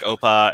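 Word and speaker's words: OPA: approaches right i think that running something like oppa which i just learned how it's pronounced today uh running something like oppa and doing continuous monitoring um that is more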